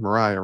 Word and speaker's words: Mariah: I know your wife, Mariah, is how you pronounce her name? Mariah, right? Yes.